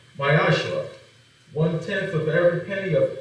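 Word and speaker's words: מעשר: It means tenth in Hebrew and is pronounced Mayashra.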